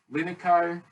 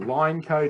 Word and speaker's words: Lineco: Other alternatives, there are some great products that are out there from Linico or Lineco, depending how you say it, which is like